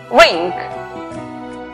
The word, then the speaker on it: wring: La palabra torcer, que se escribe, la W antes de R al comienzo es muda. Por lo tanto, la pronunciación es wring.